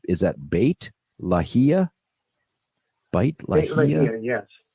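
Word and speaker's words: Beit Lahia: if I'm close it's Bei T is that bit lahia bate yes bit Leia they've said that in the Gaza Strip that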